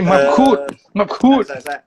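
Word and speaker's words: Mabkhout: Ali Mabkhut. Samad. Tak, sebab dia kena pronounce Arab. Mabkhut.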